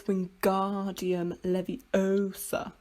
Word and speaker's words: Wingardium Leviosa: book um hermione says you're saying it wrong it's wingardium leviosa nick the gar nice and long oh my gosh you